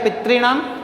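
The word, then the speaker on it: पितॄणाम्: तो पितृणम, इसका उच्चारण हो जाएगा पितृणम। ये डबल री, दोनों री आएंगे और उसको मिला करके बड़ा री बन गया, तो ये वर्ड बन गया पितृणम।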